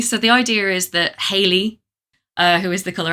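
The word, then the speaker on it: Heily: So, the idea is that Haley, uh, who is the color out of space, it's spelled H E I L Y, obviously, cuz she's she's a great old one.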